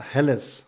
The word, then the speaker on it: Helles: a lager beer but we in germany say it's a helles or a hell beer so that's why yeah